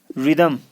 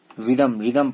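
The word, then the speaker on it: rhythm: रिदम, आर, H silent है यहाँ। फिर रिदम पढ़ना है, रिदम, ठीक है।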